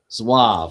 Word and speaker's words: Zouave: Zouave. Okay. Like essentially swab. All right, first Zouave Battalion. Yeah, it's a French term.